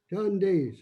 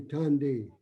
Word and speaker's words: Tande: Well, this next word might be a little tough to pronounce. Tande. So everybody say Tande.